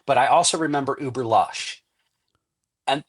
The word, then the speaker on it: Lux: I also remember Uber Lush. And that's how it was pronounced, was lush for Lush. luxurious. Oh, I thought it was Lux with an X. That's how everybody sees it and pronounces it.